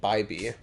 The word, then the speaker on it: Bibby: It's spelt Bibby, but pronounced Bybee. Huh.